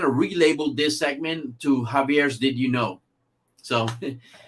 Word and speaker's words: Javier: say hey you know in spanish the the j is pronounced like an h and then they're like oh okay that makes sense your name is javier oh that's that's a